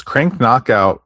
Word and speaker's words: Crank Knockout: Is that a Cranko? Do you know what the pronunciation is the correct pronunciation of the magazine? Crank KO? Uh no, I I'm not sure. Well, it's Crank Knockout Crank Knockout, but only one K I guess technically there's two Ks in there.